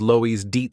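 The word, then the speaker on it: Loeys-Dietz: Taking a deep breath, our hero decided that his assistant was right and so said that it was Lois Deets syndrome, asking again if he pronounced the name correctly.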